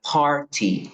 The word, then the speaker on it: party: tiene dos pronunciaciones ya dependiendo si usted va a hacerlo de forma en inglés británico diría Party Sí aquí Suena la t si lo hacen en